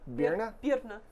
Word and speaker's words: Birna: Birna. Birna. Think beer nuts, but without. Yeah, just say beer nut without the T.